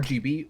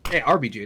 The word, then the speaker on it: RBG: It's going to allow RBG, or RGB, RBG, I did say it right the first time.